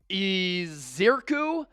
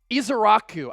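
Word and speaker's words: Ezeiruaku: against Penn State Donovan eiru I I've been trying to get this pronunciation right all day isaku I think is the proper pronunciation got to go through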